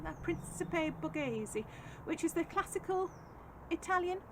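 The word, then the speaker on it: Principe Borghese: to grow those um red cherry and and Principe Bazi you say it like that Principe Bazi which is the classical Italian sundried variety so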